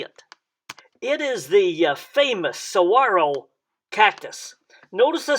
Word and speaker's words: saguaro: sound uh and and the g has not a g sound but a wah sound so uh uh and don't forget to roll the r at the end so you would say saguaro saguaro cactus become more